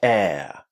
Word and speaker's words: air: By the way, I'm pronouncing the word air with American pronunciation. the international pronunciation of the word air. In British English, we would use a diff thong in that word. We would say air.